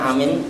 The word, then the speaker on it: Amin: Amin ini beda-beda Pak Makanya kalau pas salat bacanya Amin Anya panjang Amin ya kalau amanah al-amin